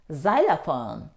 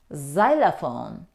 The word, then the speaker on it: xylophone: say xylophone Xerox no the letter X isn't pronounced in these words we say xylophone xylophone it's a musical instrument Xerox Xerox a process